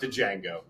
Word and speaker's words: Django: racist we're talking about Django yeah that's the g is silent yeah that's it's not